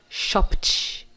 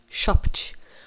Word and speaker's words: shopped: Ó, embaixo, Shop, do verbo comprar, shop, tem som de P, né? O P é mudo. Então, no passado vai ficar shopped, shopped.